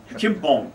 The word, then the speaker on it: Chumphon: Now, when you were down at, how do you pronounce it, Chumphong? Chumphong.